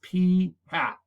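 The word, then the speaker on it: p̂: that came from a sample, we call it p hat. Yeah, that's pronounced p hat. It's literally a p with a little hat on top of it. It's called p hat.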